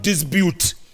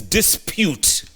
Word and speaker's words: dispute: Because Addo Mohammed has just said, Grand Mullah, it's not dispute, it's dispute.